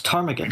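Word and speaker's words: ptarmigan: feathers I believe oh oh it's Tagan The Rock Tagan remember seeing the p is silent I want to eat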